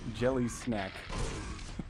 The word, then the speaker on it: gellehsak: struck now driver rate saying it's pronounced jelly snack that sounds good great